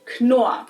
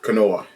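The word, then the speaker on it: Knorr: Americans pronounce it no, but since it's a German brand, the correct pronunciation is actually Koa. Kenoa. Koa. The K is not silent here.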